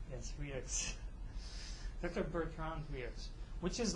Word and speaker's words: Rieux: Yes, his name is really hard to pronounce. Rieux. Yes, Rieux.